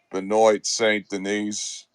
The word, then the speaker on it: Benoit Saint Denis: Benoit Saint Denis.